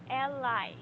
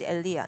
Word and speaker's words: Elia: it's okay all right Ally well I don't know if I'm pronouncing it correctly I told you earlier my name is Elia not allaha la aldea okay have you read